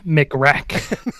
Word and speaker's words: McRack: It's McRack. That's how you pronounce it.